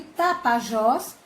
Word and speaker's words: Tapajós: Então, no caso de Tapajós, a sílaba tônica é Jós, que como ela está na última sílaba, ela é chamada de oxítona.